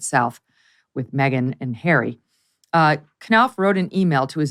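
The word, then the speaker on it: Knauf: Is that how you pronounce his name? Knopf, yeah.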